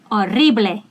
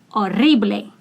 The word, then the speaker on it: horrible: I want to remind you that when you speak Spanish, if H is the first letter, do not pronounce it. Start with the second. Horrible. Horrible.